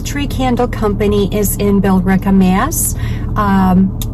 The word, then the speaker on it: Billerica: Candle Company is in Billerica, Mass. Those of us not originally from New England may pronounce it Billerica.